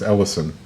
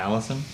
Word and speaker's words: Ellison: wrong the second time it's Ellison Ellison not Allison well up did you